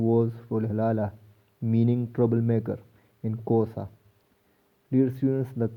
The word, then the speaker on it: Xhosa: Rolhelala, meaning troublemaker in Xhosa. Dear students, the correct pronunciation of this word is Xhosa. Ka sound is there, Xhosa.